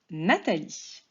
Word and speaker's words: Nathalie: Et d'ailleurs, Nathalie prend un H après le T qui ne s'entend pas, de la même manière que le prénom Nathan.